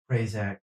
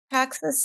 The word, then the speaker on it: Praxis: I want to talk a little bit about Prazak. How do you pronounce it? Crazy space that you created of it. You want to talk a little bit about that? Um Say Praxis again. space? Oh, Praxis space.